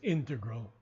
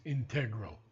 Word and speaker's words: integral: Dictionary and Collins Dictionary the preferred pronunciation is integral and the second pronunciation is integral so you can choose whatever you like I won't argue okay